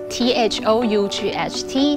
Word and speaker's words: thought: Hello, 大家好，我是 Casey。今天呢，我们来认识一下 thought, T-H-O-U-G-H-T 这个字哦。要注意呢，它的发音哦，thought 里面的 G-H 两个字母它是不发音的。那大家认识它，可能是因为我们很常用的 think 思考啊、想这个字，它的过去式还有过去分词就是 thought